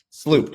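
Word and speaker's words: SLU-PP-332: Sloop. Sloop. I always mispronounce it.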